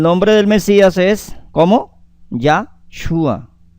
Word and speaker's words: Yahshua: Yahshua, pero lleva el acento en la U, ¿cierto?